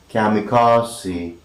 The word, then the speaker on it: kamikaze: day and that is kamikaze kamikaze kamikaze it is k-a-m-i-k-i-k and you have me car c four syllabus most significant is this one here that is car and it is articulated kamikaze and this is again